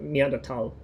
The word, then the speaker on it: Neanderthal: Neanderthal. Don't pronounce the H because it's German.